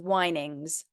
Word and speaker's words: whinings: S on the end whinings whinings like windings winding like a z a z sound it's spelled with an es but yeah whinings say